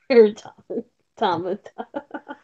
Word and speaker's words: Automata: So yeah, they pronounce it for you, automata. Yeah. Yeah, no. Yeah, it's the way how I said it. Automata.